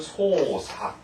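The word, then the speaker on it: 操作: 물론 이외에도 여러 가지가 많습니다만 이처럼 작자를 사그라고 발음하지 않고 여기서 사교, 그 다음에 작용은 사요, 그 다음 발작은 헛사, 그 다음 조작은 소사. 이처럼 이런 작자를 전부 다 사라고 읽는 점에 아주 조심하시고요.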